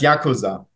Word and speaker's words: Yakuza: Oder hier, sag schon, wie heißt die Mafia? Die wird ja auch erwähnt. Yakuza. Ja, es heißt Yakuza. Also wird es ausgesprochen. Und hier war das mit den Us, die wechseln.